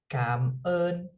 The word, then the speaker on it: Cảm ơn: Cảm ơn. Cảm ơn. So spelled CAM. So CAM as in monkey, and then ON as in like on. Cảm ơn. But instead of saying on, you're It's saying ơn.